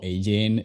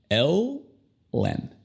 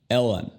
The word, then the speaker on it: Ellen: Ok, su nombre no se pronuncia como Hélène o Ellen de Géneres. Es un poco difícil porque parece que en su primer nombre solamente hay una sílaba, pero en realidad hay dos. Tenemos El y Len. Ellen. Ellen.